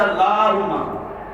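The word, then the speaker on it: اللهم: بات پڑھتے ہیں سبحانک اللہم و بحمدک وتبارک اسمک وتعالی جدک، یہ غلط ہے۔ سبحانک اللہم، لام کو کھینچے، کلہم، اس کے بعد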